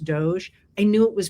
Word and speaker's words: DOGE: people who wrote to me to say it's pronounced Doge, I knew it was pronounced Doge, but I didn't want to take it seriously. And that's why I've always pronounced it doggy.